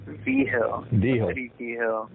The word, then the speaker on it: Vigil: something at the end my last name i've tried to tell you it's pronounced uh v-hill wow i've been mispronouncing